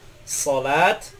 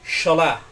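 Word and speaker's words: صلاة: Sod dalam bahasa Indonesia seperti mengucapkan salat, tidak boleh diucapkan shin, sholah. Misalkan ada orang mengucapkan hayya 'ala sholah, itu salah.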